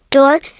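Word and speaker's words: dört: uc, pronounced like yuch, dort, pronounced like dirt, bes, pronounced like besh,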